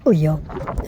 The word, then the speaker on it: Ulloa: Ulloa, a more Spanish pronunciation, an open space within the set formed